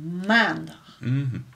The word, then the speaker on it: maandag: Okay, dus de klemtoon ligt steeds op de eerste. Dus maandag.